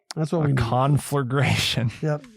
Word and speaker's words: conflagration: a big old conflagration conflagration c-o-n-f-l-a-g-r-a-t-i-o-n four syllables it's a noun conflagration